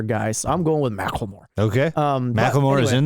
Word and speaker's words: Macklemore: oh yeah Macklemore's name it is Macklemore I was wrong I was like McLemore or whatever I said um so yeah I